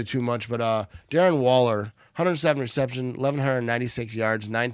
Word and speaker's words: Waller: Darren Wallen, I think it is. No, it's Waller. I said the name wrong.